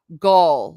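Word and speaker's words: Gaol: Gaul, like the German tribe. Okay, Gaul. So Kimim Gaul. But basically jail. Interesting. Archer Cullen says, "I pronounce the same as jail myself. Is it a Gaelic word?" Oh, well, yeah, it is an Irish word and an old pronunciation. Okay, that's what I thought. But we would call it in vernacular by jail.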